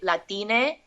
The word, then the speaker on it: Latine: So Latinx, or sometimes it's pronounced like an E, Latine, to make it gender neutral.